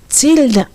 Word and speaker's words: Tilda: It's tilda. Tilda. Tilda. Tida. Tilda. I L D A H. That pronunciation of Tilda. Tilda. Not Tilda.